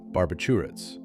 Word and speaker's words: barbiturates: Barbiturates. Let's break it down. This word often confuses people. The correct way is barbiturates. Start with bar, then b, then a smooth chew, and end with ritz.